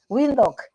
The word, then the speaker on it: Windhoek: How do you pronounce it? Windhoek.